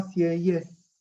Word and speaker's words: Sieyès: Aparece un tipo que se llama Sieyès, que lo deben conocer, se escribe S-I-E-Y-E-S, pero la segunda E es con acento aigu, que sería para el otro lado.